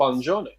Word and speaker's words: Buongiorno: Steve Pitt's done a handy phonographic interpretation of this Buon Giorno, and apparently it's spelled Buongiorno. It's pronounced rather Buongiorno.